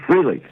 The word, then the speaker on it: Frehley: How do you correctly pronounce Ace's last name? I say Frehley.